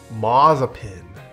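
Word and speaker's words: Mazepin: me spin let's spread it is pronounced mazzapin mazzapin i want to see schumacher on top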